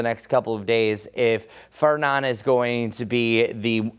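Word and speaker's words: Fernand: But the next name up is that's pronounced Fernan.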